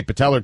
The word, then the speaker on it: patella: Patellar. It's just an A at the end.